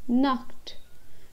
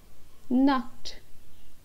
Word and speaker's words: Nacht: Nacht. Here we have to give a bit of a pronunciation of K. Yahan par humko thoda sa K karke bolna hai. Gute Nacht. Nacht.